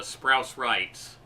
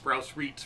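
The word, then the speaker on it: Sprouse-Reitz: But west of the Lewis store was the Sprouse Rights, which I mispronounced Sprouse Reeds for many years, and that's another chain.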